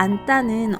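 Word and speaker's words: 앉다: 언따와 안따는 어떻게 발음해야 할까요?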